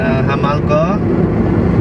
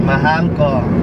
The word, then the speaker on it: Mahal ko: Hamal ko. Mahal ko. Yes. Say it properly. Mahal ko.